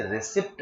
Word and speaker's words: receipt: इसे रिसिप्ट भी बोल सकते हैं और रिसीट भी बोल सकते हैं। रिसिप्ट और रिसीट एक ही बात है। पी को साइलेंट कर दिया।